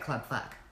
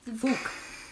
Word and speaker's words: KLUBFUKK: And it's KLUBFUKK. But I would still pronounce that Club Fuck. Wouldn't you? Mm-hmm. FUKK? Yeah. Okay. Was it food? So, fook.